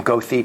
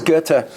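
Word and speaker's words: Goethe: johan wolfgang van gotta don't pronounce his name gothi people think you're not well educated what does gerta write about the jews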